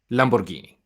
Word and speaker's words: Lamborghini: um Another driver, Matteo Larena, he's a Lamborghini GT3 Junior. He's going to join NTE Sport at Sebring, of course, in a Lamborghini Huracan. Is that right, Lamborghini? Lamborghini.